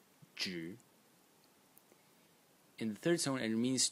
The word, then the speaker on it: 止: one is this element over here which is pronounced J in the third Zone and it means to